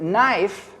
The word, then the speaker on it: knife: as in the word knife because you don't pronounce the k it's silent there's no numerical value